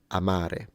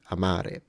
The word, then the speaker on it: amare: word to love Amar it's clearly that the first a is shorter than the second so there is a quantity variance there or variable rather than a quality Amare Amare now I don't have